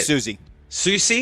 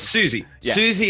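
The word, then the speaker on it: Siouxsie: of genres including how do you say it susie susie you you should know susie susie oh it's susie susie in the banshees which was old rock nine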